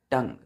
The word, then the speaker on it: tongue: ध्यान दीजिए बच्चों स्पेलिंग में टी ओ एन जी यू ई। जी के बाद यू फिर ई है। इसका प्रोनंसिएशन क्या होता है? टंग। क्लियर है? यहां पर यू बच्चों नहीं पढ़ते हैं।